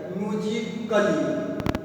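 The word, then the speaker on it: musically: यदि ए के बाद डबल एल वाई आए तो ए साइलेंट होता है।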